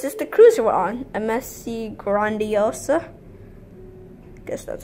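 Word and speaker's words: Grandiosa: luck and this is the cruiser on MSC Grande Elsa yes that's how you pronounce it and you have an exit anyway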